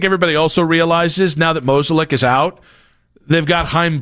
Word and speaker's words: Mozeliak: all the guys that Mozeliak loves. That's how you say his last name. What is it? Mozeliak. Come on. I know, it's just me. It's the right way to say it.